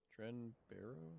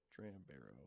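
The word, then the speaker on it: Dram Bero: he is there and i look it up trend barrow no i put it wrong in my notes trend or when hopefully it pops up even though i was playing his name wrong dram barrow the unofficial elder scrolls pages uh highly reclusive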